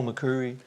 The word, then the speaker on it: McCoury: me Dale mcui mccu that's the way you pronounce my name is Dale mccu Dale McCurry yeah that's right do